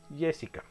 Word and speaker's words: Jessica: De todas maneras, se pronuncia Jessica.